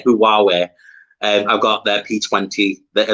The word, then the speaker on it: Huawei: I say Huawei. I've got their P20. I love their phones. Yeah, so it's Huawei. So Huawei. That's how it's pronounced.